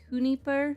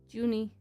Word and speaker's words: Juni: It's not pronounced Junipur? No. Just because I know a little Spanish doesn't mean that it's always said that way. It's just Junie.